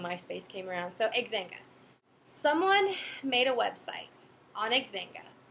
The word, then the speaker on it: Xanga: um back then Myspace wasn't really around yet and we didn't have Facebook we had something called xanga I need to pronounced it was x-a-n-g-a that was what everyone